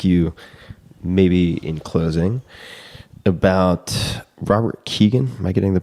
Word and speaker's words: Robert Kegan: love to ask you, maybe in closing, about Robert Kegan. Am I getting the pronunciation of that name correct?